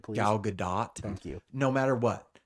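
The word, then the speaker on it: Gadot: whether you hate Rachel zegler whether you hate galado do whether you're a conservative a liberal what pronounce it right please galad do thank you no matter what no matter how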